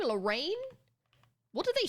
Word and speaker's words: Lorraine: But Lorraine, I'd pronounce like Lorraine, like rain at the end.